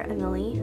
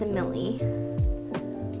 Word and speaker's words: Emily: You know her, Emily. I think I'm pronouncing her name right now because before I was always pronouncing her name wrong. I was pronouncing it Emil, but I'm pretty sure it's Emily.